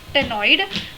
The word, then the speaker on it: ctenoid: scales but this stenoid is uh it is pronounced testing tenoid but its spelling is ctenoid bladder is present